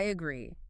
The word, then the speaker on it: agree: I agree. It is your standard, safe, and polite option. Just remember, it is a verb. Stress the second syllable and try to add a little reason afterward.